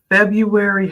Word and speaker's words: February: Leo predictions for February February has two RS and even though we don't clearly pronunciate that first R it's February okay at three Rs febru